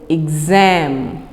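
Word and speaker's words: exam: Next word is एग्जाम। एग्जाम, yes definitely यहाँ पर हम इसको EGS वाले कॉलम में लिखेंगे क्योंकि ये ग की साउंड प्रोड्यूस कर रही है। और एग्ज़ाम, सही प्रोनाउंसिएशन पे गौर कीजिए, एग्ज़ाम।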